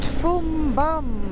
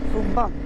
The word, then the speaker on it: Foumban: I reached Foumbam, Foumban.. Foumban Should say it properly Okay, wow This seems very random but there is a huge spider and..